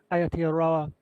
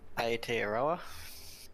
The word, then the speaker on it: Aotearoa: It's good to have the Aotearoa.